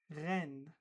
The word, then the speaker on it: reine: Reine, reine. So EI is pronounced E, so we say reine, queen.